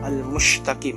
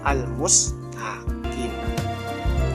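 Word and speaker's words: المستقيم: Jadi kayak anggaplah kayak almusytaqim itu kesalahan pertama. Padahal itu kan aslinya bacanya almustaqim, maknanya jalan ee yang lurus.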